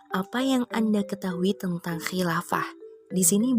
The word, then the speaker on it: Khilafah: yang anda ketahui tentang Khilafah di sini banyak nih responden yang mungkin salah baca gitu ya Khilafah dibacanya khalifah jadi jawaban mereka kurang tepat di Lava diartikan sebagai